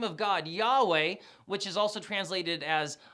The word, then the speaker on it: Yahweh: And the personal name, we usually pronounce that is Yahweh.